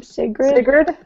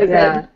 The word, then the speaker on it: Sigrid: Sigrid, Sigrid, Bane I and think. Sigrid.